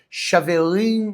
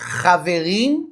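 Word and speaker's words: חברים: a pronúncia em inglês, ela falou desse jeito, Chaverim Macaba. Só que ela quis dizer Haverim Macaba. Até mesmo a pronúncia daí da atriz não soou como o hebraico, o aramaico.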